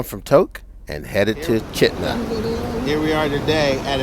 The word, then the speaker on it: Chitina: headed on into chitna we pronounced it shatina several times until we learned the name of it was chitna so we came down